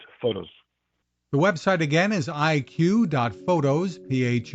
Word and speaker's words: EyeQ: where do we go so IQ is spelled ey and then the letter q photos um we wanted